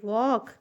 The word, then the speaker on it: walk: लिखा है वॉक slowly, WALK, वॉक, ठीक है? वॉक। यहाँ पे यल भी साइलेंट है, ठीक है? यल साइलेंट है, SLOWLY, स्लोली।